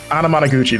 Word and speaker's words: Anamanaguchi: Can you pronounce the band's name that is Anna Anamanaguchi. Anamanaguchi?